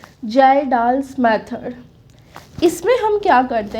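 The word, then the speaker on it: Kjeldahl: इसका थोड़ा complex spelling है बट इसमें K साइलेंट है तो इसको हम प्रोनाउंस करेंगे जाल्डाल्स मेथड।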